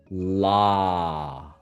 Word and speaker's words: law: Say with me, law. Law. Aha. That was You see how you open everything and you didn't round your lips.